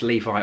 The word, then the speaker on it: Levi: if it was pronounced Levi or levie um he basically said Levi like the jeans and Nikita said well